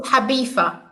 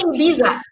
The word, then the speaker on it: Ibiza: No, the pronunciation is Habifa. Abifa, yes. Come on. Abifa, yes. Don't say Ibiza.